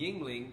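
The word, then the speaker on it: Yuengling: The Yingling, is that how you pronounce it? Yeah. Yingling from Louisiana.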